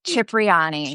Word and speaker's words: Cipriani: How do you pronounce it? Yeah, Cipriani.